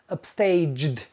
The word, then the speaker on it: upstaged: Upstage ends with a j sound. So the past tense sounds like upstaged.